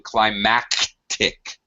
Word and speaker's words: climactic: are not palma phones you should be pronouncing the c sound in climactic so as to make it disabled from climatic okay Sam your turn